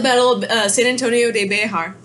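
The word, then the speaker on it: Béxar: we have the Battle of San Antonio de Behar spelled VA XA arts bear Behar's I pronounced it long story short said innocence Colonel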